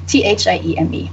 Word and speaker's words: Thieme: And my Twitter handle is @Katya_Thieme, which is a German name, hard to remember and pronounce. It's pronounced Thieme, Thieme.